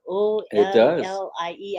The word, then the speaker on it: Ollie: Yes, sounds like your name, Ali, but it's spelled O-L-L-I-E.